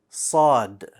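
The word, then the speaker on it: صاد: How is it pronounced? Sad.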